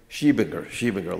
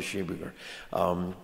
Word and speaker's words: Schiebinger: Proctor and his wife, I never can pronounce her last name. How do you say it? Schiebinger, Landa Schiebinger.